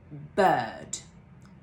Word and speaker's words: bird: Finally, we have this word which contains the sound a long schwa, so it's pronounced bird, bird.